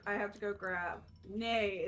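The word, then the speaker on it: nee: Nay is how you say no in Dutch.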